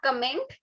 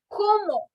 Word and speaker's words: comment: So this comment word is not comment. It is como.